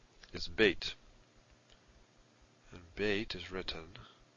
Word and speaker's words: Beit: Beit with the dagesh is a b sound, as in boy. And without it is a v, as in van. So Beit, pronounced b or v, depending on whether it has this dagesh or not.